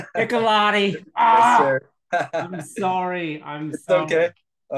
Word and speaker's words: Piccolotti: nope that was me first of all you butchered it it's piccolotti piccolotti I'm sorry I'm okay I understand piccolotti